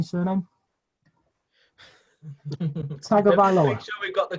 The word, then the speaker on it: Tagovailoa: And does anybody want to have a go at pronouncing his surname? Tagovailoa.